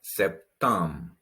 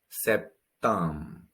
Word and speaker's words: septembre: Then we have septembre. Septembre. The AN also a vowel sound, nasal vowel sound.